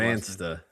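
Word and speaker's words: Dybantsa: I don't know how I can't pronounce it. Debantsta.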